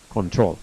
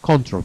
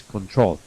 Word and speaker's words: control: The pronunciation is control. Don't pronounce control, please. The accent of the stress of the word goes at the end of the word. It's control.